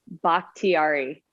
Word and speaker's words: Bakhtiari: Bakhtiari. Bakhtiari. Now, Fern. There you go. Like bok choy. Like bok choy. Yes, exactly like the vegetable.